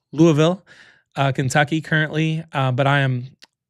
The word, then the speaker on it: Louisville: Louisville, Kentucky currently.